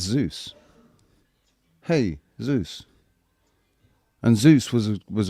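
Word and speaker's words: Jesús: But Spanish people pronounce it Jesus and then but but then it's Zeus. Hey Zeus.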